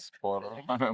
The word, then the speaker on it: Spåre: Spåre.